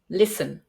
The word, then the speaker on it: listen: was pronounced often because we have words with a t in the Middle where the t is not pronounced for example Castle mortgage listen but if you want